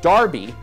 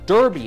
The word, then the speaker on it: Derby: Now nearly every country, every state, has a race for 3-year-old horses with Derby, or Derby as Americans pronounce it, in its name.